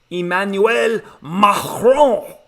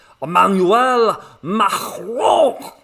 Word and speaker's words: Emmanuel Macron: the president of France, Emmanuel Macron. You have to say it like that. If you're speaking French, you want to show respect, so you got to build up the phlegm. Emmanuel Macron.